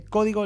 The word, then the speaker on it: Código: Egwin, transformando ideas en realidad a través de código limpio y soluciones innovadoras. Código tiene acento en la O.